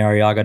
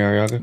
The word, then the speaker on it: Arriaga: Instagram name just Sammy araga just Sammy araga thankfully how do you spell araga a r r i a g a you got to roll the RS though can you roll your